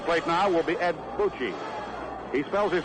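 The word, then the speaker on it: Bouchee: Coming up to the plate now will be Ed Bucci. He spells his name B-O-U-C-H-E-E. Edward Francis Boucher, or Bucci. I think the pronunciation for his name actually is Boucher.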